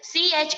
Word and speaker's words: chauffeur: The pronunciation of it is CHAUFFEUR is chauffeur.